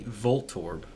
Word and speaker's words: Voltorb: Voltorb anytime soon and it should be Voltorb like volt yeah or I can't